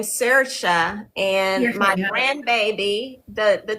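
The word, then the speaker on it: Saoirse: One of them is named Cersa. Cersa.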